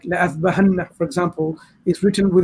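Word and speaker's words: لأاذبحنه: We don't change it, but it denotes when we pronounce it, there's a marker there that tells you that this alif is silent.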